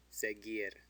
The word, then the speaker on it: seguir: Seguir. Seguir. The U doesn't have an umlaut. It's between a G and an I, so it's silent.